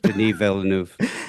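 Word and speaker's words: Denis Villeneuve: Den Villanuv.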